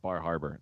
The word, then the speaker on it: Bar Harbor: it's, So it's I'm only from Indiana, but I believe it's pronounced Bahaba.